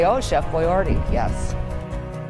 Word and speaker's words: Boyardee: they say Oh chef boyardee yes he want to make sure they pronounce his name right so he put the bo y dash areee on it and and then he